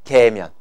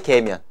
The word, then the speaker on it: 계면: 이름에다가 계면을 붙이면 된다고 발음 정확하게 하세요 면입니다 년이 아니고요 자 알겠습니까 성층고등학교 기온